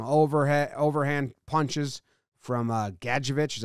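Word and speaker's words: Gadjovich: open for some overhead overhand punches from uh gadgeovich is how you say it and look at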